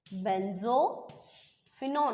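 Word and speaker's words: benzophenone: बेंजोफिनॉन, ऑन का उच्चारण हो ना कीटोन का, बेंजोफिनॉन।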